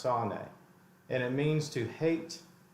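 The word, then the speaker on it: שָׂנֵא: But it says here, the Hebrew word for hated in this verse 4 is S-A-N-E is the spelling. I think it's pronounced sane.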